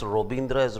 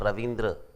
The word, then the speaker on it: Rabindra: impressed oh at least he is able to pronounce robindr as robindra not ravindra right oh interesting that's